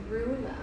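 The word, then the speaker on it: Roula: Rula.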